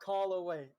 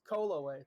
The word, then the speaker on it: Koloway: It is not Koloway. Everyone who says that way, delete yourself from the internet right now. All right, bye. Anyone who says Koloway, you're wrong. It's Koloway. That's the way I've been pronouncing it since I was 8 years old.